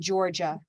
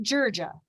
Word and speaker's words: Georgia: color we use because there are many right ways to say this word okay we're flexible people we're humans is that there is an er in georgia er and let me